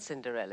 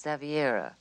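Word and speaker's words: Xaviera: It's not Cinderella, it's Zaviera.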